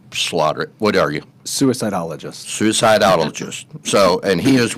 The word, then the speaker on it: suicidologist: You're going to have to pronounce this because I slaughter it. What are you? Suicidologist.